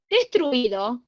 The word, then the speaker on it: destruido: Destruido, aunque les suene mal, es diptongo, chicos, ¿sí?